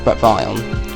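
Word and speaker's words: Bret Vyon: this story um that includes Brett vaugh um Brett Von um that's how you pronounce it um also this is released um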